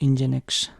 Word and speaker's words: NGINX: this Browser Support Benefits NGINX (Pronounced as Engine-X) whatever HTML Jump Links